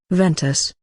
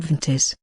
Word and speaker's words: Ventus: swoosh like that and it's pronounced as vintus Ventus not ventis but don't focus on